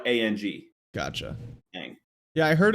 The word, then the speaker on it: Ng: It's just Ang. Is it? Sure. There's a video of her pronouncing her own name on YouTube. Oh, that's good. And I wanted to know, and it's just like Ang.